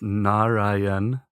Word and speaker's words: Narayan: The mantra that I've chosen is one which is pronounced Narayan, Narayan.